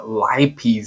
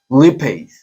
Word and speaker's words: lipase: the word that I always forget is uh lipies I think it's pronounced I don't even remember how it's pronounced